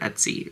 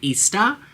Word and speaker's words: Etsy: can do it, listen, I did not even know how to say the word Etsy, right? I was calling it Ista, and I had no idea what I was doing, all right?